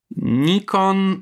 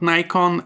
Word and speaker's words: Nikon: And note here, I'm using the standard, not the American pronunciation. So you will hear here Nikon, not Nikon, and bokeh, not bokeh.